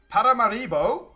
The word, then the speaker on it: Paramaribo: Paramaribo, that's how you say it, is an excellent, excellent, excellent settlement, guys.